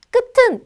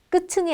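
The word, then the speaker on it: 끝을: 나오는 형식 형태소 니까 그냥 요 받침을 뒤로 밀어서 끝은 이라고 발음하는 게 맞습니다 끝 층이 아니라 끝은 이라고요 한번 들어보세요 자 그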